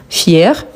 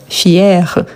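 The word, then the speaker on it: fière: Mais si, je dis fier, fier, fier. C'est pour ça qu'il y a l'accent grave pour bien ouvrir le son.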